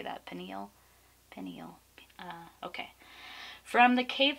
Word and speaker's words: pineal: eel pineal gland how do you say that pineal pineal okay from the cave of there you